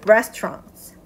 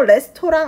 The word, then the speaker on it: restaurant: 그래서 there aren't good restaurants. 아까와 마찬가지로 레스토랑 아닙니다. restaurant 이렇게 돼야 돼요.